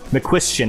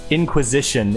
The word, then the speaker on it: McQuistion: the Fuel Cup series, his name is McQuistion is his last name, but the way it's spelled, my brain hurt, and it was a long night, and I said Inquisition instead, and that was not right.